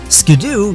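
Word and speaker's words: Skiddo: line it could be an ideal starter Pokemon skidoo yes it's pronounced skidoo apparently as the former head of the dub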